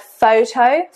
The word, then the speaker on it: photo: in English the word photo, P-H-O-T-O, is spelt with a P and an H. This again, Greek in origin, pronounced as f, not p-h or p-h.